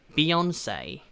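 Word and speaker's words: Beyoncé: Beyonce 라고 이야기합니다. Beyonce 라고 이야기하는데요, 비욘세라고 우리는 이야기하는데 Beyonce say라고 좀 에이 이런 식으로 좀 끝을 좀 튕겨주는 게 포인트입니다.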